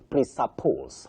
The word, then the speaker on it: presuppose: So for that word Betty you say presuppose the way you said it at the first point.